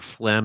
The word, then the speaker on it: phlegm: So I kind of wondered the origins of the word phlegm, especially since it has that silent G in it, phlegm.